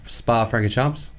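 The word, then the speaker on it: Spa-Francorchamps: Yeah, yeah, yeah, how do you say it? Spa Francorchamps. I just call it Spa. Yeah, see? Is it Francorchamps? Francorchamps, I don't know. It's half French. Actually, it's half Dutch, half French, I'm just going to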